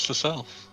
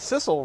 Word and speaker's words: Sissel: I always thought it was Cecile. I don't know what to tell you, buddy. Because Sissel rhymes with missile, and missile is for fun.